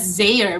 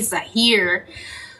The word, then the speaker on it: Zahir: All this time, I was pronouncing his son's name as Zaire, but it's actually Zahir.